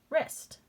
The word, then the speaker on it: wrist: we're doing right now silent w er est wrist my wrist silent w